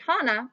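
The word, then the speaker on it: 花: t and the kanji on the right is pronounced hana and means flowers the radical circled in both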